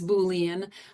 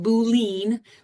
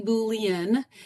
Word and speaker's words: Boolean: such a weird name and that's how you pronounce it is Boolean I've heard a lot of people pronounce it boene but that looked up the definition and the pronunciation it is actually Boolean and it actually comes from you see his